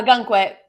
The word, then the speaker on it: Ogunquit: Oh, Ogunquit.